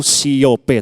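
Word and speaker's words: σιώπα: di dalam bahasa Yunani tulisannya tuh siope tapi bacanya siop pfimoso kita baca sama-sama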